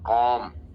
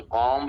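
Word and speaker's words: comb: बाल बनाने को बोलते हैं कॉम। इसमें बी साइलेंट है। तो कॉम्ब नहीं कहना है।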